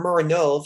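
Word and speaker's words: Muranów: Muranow, or Muranov, that's actually how you're supposed to pronounce it.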